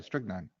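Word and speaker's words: strychnine: S T R Y C H N I N E. Yeah, strick nine.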